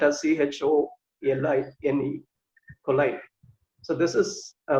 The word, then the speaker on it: choline: It's spelled as CHOLINE, choline.